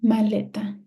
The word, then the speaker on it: maleta: and then we have maleta maleta what is my stress syllable is a is a malleta or is aeta it's Le malleta now uh here are